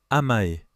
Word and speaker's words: amae: Le premier mot est amae, prononcé amae.